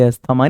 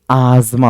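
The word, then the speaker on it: asthma: में मिलेगा और यह जो अस्थमा है ना एक्चुअली ये अस्थमा नहीं दमा को बोलते हैं ये आजमा होता है और ये जो आर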